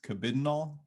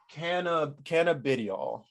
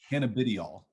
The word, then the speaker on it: cannabidiol: So the correct pronunciation is Cabidinol. Did I get It's that? cannabidiol. Cannabidiol.